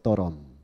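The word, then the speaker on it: Durham: 더럼. 더럼이 아니고 더럼. D-U-R-H-A-M인데 중간에 막 묵음이 되면서 더럼이라고 불리는 곳인데 거기는 우리가 안 가봤지만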